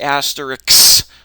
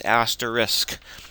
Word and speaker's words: asterisk: an asterisk some people pronounce it asteris but that's backwards it's spelled SK so it's asterisk so I can multiply